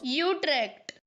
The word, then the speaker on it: Utrecht: being worldly give me a Dutch Guy saying you track for God's sake how do you say it I know it's not bad Utrecht that's it that's the one that's the official pronunciation sorry Netherlands gonna have